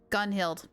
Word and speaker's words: Gunhild: Rain, how do you pronounce Gunhild? Gunhild.